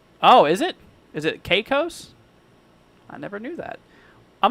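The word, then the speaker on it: Caicos: A little help is pronounced the Turks and Cos. Oh, is it? Is it Cos?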